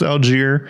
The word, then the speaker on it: Allgeier: Patterson or Tyler Allgeier. And it is Allgeier, not Allgeier. It looks like Allgeier. I'm probably going to call him Allgeier. I don't care that it's pronounced Allgeier.